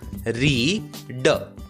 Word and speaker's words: read: ई, इसलिए READ का उच्चारण होगा आर की आवाज र, ई का नाम ई, ए को भूल गए और डी की आवाज ड। शब्द का उच्चारण होगा रीड, रीड।